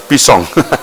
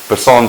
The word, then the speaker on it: Mpisane: They also refer to it as Pisang, but Mpisane Fort is how they pronounced it.